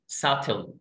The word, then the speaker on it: subtle: subtle، اوعى تقول كون قلت sub subtle subtle subtle يعني باهت، البي هنا سايلنت.